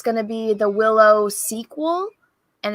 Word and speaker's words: Willow: So she pronounced it Willa, not Willow.